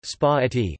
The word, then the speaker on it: spaghetti: Spaghetti, Italian pronunciation, spa-etti, sing.